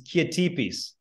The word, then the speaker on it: Kiatipis: The reality is it's Kiatipis. It's a Greek name.